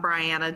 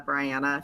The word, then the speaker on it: Briana: next sure so I'm Briana here as rhymes with Diana Briana that's helpful um and